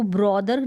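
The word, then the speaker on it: brother: सा साउंड आ जाएगा, ब्रदर करके नहीं बोलना, ब्रदर। अब यहाँ पर इसको ब्रदर ना पढ़ें, आप ब्रदर पढ़ें, करेक्ट प्रोनाउंसिएशन।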